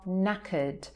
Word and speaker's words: knackered: But what it actually means is that you are knackered. So if you hear it there, it rhymes. Cream crackered, knackered.